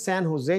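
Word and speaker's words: San José: में भी य नो सो दिस सन हुसे जैसे हमने पहले डिस्कस किया स्पेनिश में जो जे है ना व चच बोला जाता है अच्छा जी आगे तीसरा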